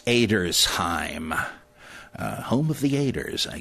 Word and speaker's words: Edersheim: Well, after I took German, I realized, no, nobody's named that. It's Edersheim. You don't have the sh that way with just an SH in German. You got to have SCH.